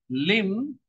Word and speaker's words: limb: When we pronounce limb, actually, we make B silent. And that's why it matches like limb, him.